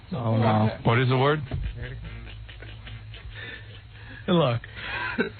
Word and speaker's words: tilak: Tilak. T-I-L-A-K, that's how you say it.